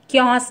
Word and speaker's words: chaos: Taking advantage of தி கியாஸ், CHAOS, கியாஸ் அப்படின்னு pronounce பண்ணணும்.